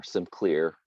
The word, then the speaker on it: SimCLR: You know, if you look at like in computer vision, contrastive learning, SimCLR, or SimClear, some people pronounce it, it does not have this gamma business.